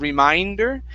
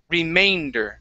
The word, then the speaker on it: remainder: this word okay the the uh a and the e together they make a long a sound so instead of reminder it's remay remainder remainder try that remainder